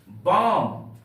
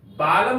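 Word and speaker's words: balm: हम लोग लेते हैं बम बी ए एल एम बाम बालम नहीं पढ़ेंगे बाम बाम का अर्थ होता है मलहम मलहम यहां पर एल का उच्चारण नहीं किया जाता है एल साइलेंट रहता है प्यारे बच्चों अब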